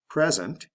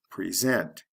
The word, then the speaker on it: present: Present, present. Did you hear the sound change from a short E to a long E?